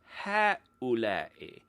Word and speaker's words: هؤلاء: The Arabic word for these, when we're referring to people, is ha'ula'i, which is not pronounced phonetically at all.